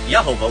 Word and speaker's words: Yehovah: And Jehovah, more accurately, it could also be pronounced Yehovah, which is the more accurate pronunciation.